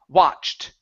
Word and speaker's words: watched: to this word here instead of wo it's an a a sound W watched open the mouth up just a little wider watched watched okay all right so let's pronounce this sound right here so uh this T don't worry about the T okay so that t isn't going to make a sound it's only a CH sound so it's chch sort